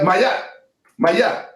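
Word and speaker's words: Ma'at: equaling justice must personify Maya, to pronounce it correctly. the T should be silent. Maya.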